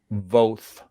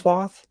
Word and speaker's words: Voth: But it's like Voth rhymes with goth is better than Voth rhymes with both.